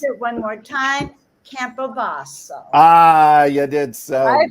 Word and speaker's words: Campobasso: tomorrow at event, and I'm going to pronounce it one more time: Campobasso. Ah, you did so I've good. been kind of practicing. Campobasso.